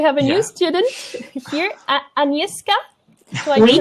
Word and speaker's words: Agnieszka: So we have a new student here, Agnieszka. Do I Oui.